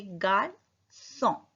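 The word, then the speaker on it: garçon: बॉय को बोलते हैं गार्सो. ग आर सी पे से दिए और ओ एन का साउंड ओ. तो बोलेंगे गार्सो. गार्सो.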